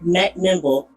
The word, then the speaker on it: McMinnville: You have to say it right. Macimble.